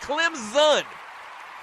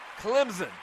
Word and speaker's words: Clemson: and it is pronounced Clemson the S kind of sounds like a z Clemson that's the way they